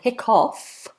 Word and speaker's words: hiccough: Now the two different spellings, it looks like hiccup and hiccough, but actually they both have exactly the same pronunciation, exactly the same meaning.